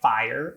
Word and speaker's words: fire: For example, fire looks like a 1-syllable word on the face of it, but in actuality, it's really pronounced like a 2-syllable word by most North American English speakers.